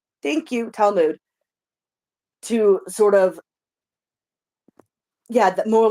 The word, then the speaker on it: Talmud: actually have been written as like the tamal talmad. How do you pronounce it? Talmood. Thank you. Talmud to sort of Yeah.